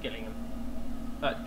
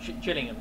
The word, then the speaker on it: Gillingham: And on the right hand side as we leave, you'll see the electric multiple unit depot here at Gillingham. Gillingham, sorry, not kidding.